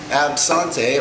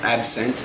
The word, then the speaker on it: absinthe: for certain things so absante or absent however you like to pronounce it now comes with wormwood